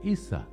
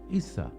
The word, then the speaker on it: Isa: In Aramaic, you would have pronounced or called him, if you wanted to speak to him, you would have said Isa, Isa.